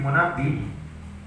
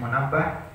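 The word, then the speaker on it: منبه: Qala, berkata Abdus Somad, aku pernah mendengar anna Wahab ni Munabbi, bahwa Wahab bin Munabbi, ada yang bacanya Munabbah, Wahab bin Munabbi radhiyallahu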